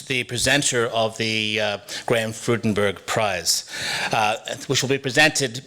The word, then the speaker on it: Freudenberg: name before, pronounced Graham Freudenberg, but for many, many years, I used to say Graham Freudenberg because his nickname to all of us was Freudy.